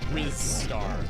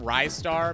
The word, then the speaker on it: Ristar: No, Ivan, it's not Rizstar. That is the one I'm pretty sure we can all safely decide that it's not Rizstar. I call him Ristar because I always thought